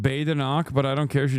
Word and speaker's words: Badenoch: It's pronounced Badenoch, but I don't care.